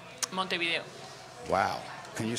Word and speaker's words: Montevideo: well can you say Montevideo how you were saying it you said mother so so the V in Montevideo is pronounced B though V is like